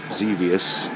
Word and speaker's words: Xevious: funky jaw over here we have millipede centipede xevious that's how you say it just worked on